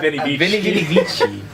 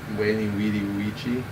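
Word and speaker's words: veni, vidi, vici: Yeah, but when you say Latin, you don't say it with V's because they didn't say that.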